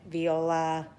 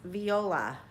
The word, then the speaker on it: viola: On the channel, we feature piano, violin, viola, and it's pronounced viola. Viola. There's a difference between the violin and the viola.